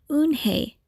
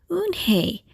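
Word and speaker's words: Unhei: Kim then turned to Joey she nodded slowly yes it's pronounced hoon Hey and it means grace mr. Kim added oonh hey Joey said slowly and this time perfectly it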